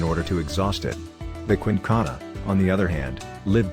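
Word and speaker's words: Quinkana: frightening because of the quincana pronounced quincana an eight-meter-long reptile with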